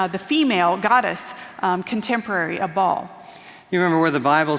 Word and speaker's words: Baal: We also have here, you guys have heard from the Bible about the god Baal or Baal, which is erroneously pronounced sometimes.